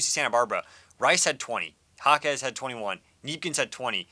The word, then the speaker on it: Jaquez: They've got Gabrielle Yaquez. I learned how to say the last name. Kiki Rice. And in this game against UC Santa Barbara, Rice had 20. Jaquez had 21.